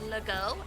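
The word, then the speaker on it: Legault: ends in uh UL it's usually French and it's pronounced like an o sound so there's Lego l e g a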